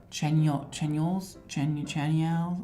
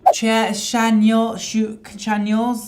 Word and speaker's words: Chanyeol: It's like, here's what it, Chanyeol's? Oh God, this is so bad with the pronunciation. Chanyeol's.